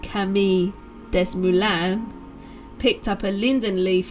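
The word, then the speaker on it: Camille Desmoulins: a young lawyer called camille uh des moines it's probably pronounced kami des mulan picked up a linden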